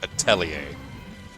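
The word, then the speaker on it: atelier: never ever ever forget that that word is pronounced atier.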